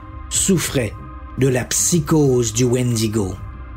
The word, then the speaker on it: Wendigo: de la psychose du Wendigo le Wendigo parfois prononcé wintico ou Windigo est un esprit malveillant